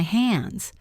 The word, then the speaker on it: hands: It's out of my hands. Imagine holding something and then letting it go. It is out of your hands. Listen to the s at the end of hands. It sounds like a zed.